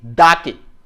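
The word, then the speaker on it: the: কখন দা উচ্চারণ করব আর কখন দি উচ্চারণ করব? যদি আমরা বলি দা, সেটা হচ্ছে দা ক্যাট। আর দি উচ্চারণ করলাম যেমন দি অ্যাপল। যদি ভাওয়াল হয়, যদি ভাওয়াল দ্বারা শুরু হয় তাহলে অবশ্যই দি, আর কনসোনেন্ট দ্বারা শুরু হলে দা।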